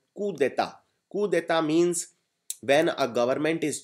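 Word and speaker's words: coup d'état: very very beautiful word Keta it is called c c it is not pronounced coup but it is pronounced C it is again a French word Keta Keta means when a government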